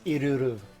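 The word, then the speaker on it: Ilulu: It's Iruru. Iruru. You gotta like roll it a little bit.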